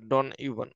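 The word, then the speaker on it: Don Juan: ডন ইউ ঠিক আছে এটা যেটা উচ্চ থাকবে উচ্চারণ হবে ডন ইউ লর্ড বাইরন বিখ্যাত রাইটার তো এইটাই মোটামুটি হচ্ছে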